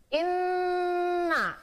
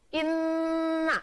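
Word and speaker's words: إِنَّ: tasdin namanya bacaan ghunnah harus dengung tidak boleh buru-buru bacanya Inna Nah itu terdengar dengung kehidung Inna Hai selanjutnya Nomor 16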